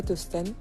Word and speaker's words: Tostan: h déveloanisation et en G dejets ça se prononce to tost d'accord je pense Tostan c'est c'est un oui et en fait ça